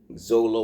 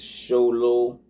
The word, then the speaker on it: Xolo: You would think it's zolo or something. It's a It's sholo.